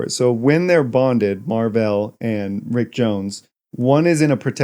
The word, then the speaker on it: Mar-Vell: him by Rick Jones why are you saying it Mar-Vell that's how it's spelled M A R dash V E L L I thought you were